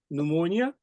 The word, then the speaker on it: pneumonia: Pneumonia, the P is silent.